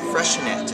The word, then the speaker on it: Freixenet: friendly factors is sparkling kava this is the freshenette and that's how it's actually pronounced freshen it it's spelled with an x people don't know